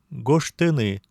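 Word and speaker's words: гожтыны: Например, гуштыны написать. Здесь ж оглушается, превращается в ше перед т.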